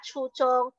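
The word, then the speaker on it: 初中: Satu bacanya adalah chuchong, satu lagi bacanya adalah kauchong ya.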